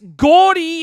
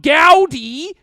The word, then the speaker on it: gaudy: Gordy is how the word is pronounced. It's not gaudy.